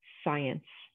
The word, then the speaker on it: science: Or when you're studying science. So those are our letter combinations for this week, our silent letter combinations.